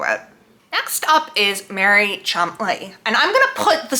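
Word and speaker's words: Cholmondeley: Next up is Mary Chumley, and I'm gonna put the spelling of her name down here because I don't understand how that translates to Chumley.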